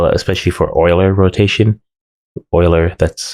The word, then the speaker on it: Euler: Euler, that's how it's pronounced.